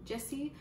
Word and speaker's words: Gyasi: The next book I got is Homegoing by Yaa Gyasi, I believe is how you pronounce her last name.